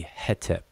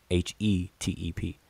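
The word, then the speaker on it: hetep: consonants but but um conventionally would be hete h-e-t-e-p hete so that that single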